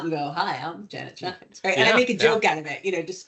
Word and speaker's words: Schijns: go hi I'm Janet shines and I make a joke out of it you know despite how it looks like it's spelled that's how it's pronounced and it made all